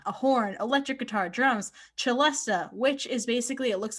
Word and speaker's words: celesta: out phonetically yeah well because a lot of people think it's like celesta but it's that's what i